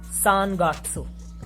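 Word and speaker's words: 三月: If you are writing these together, these would be pronounced as Sangatsu.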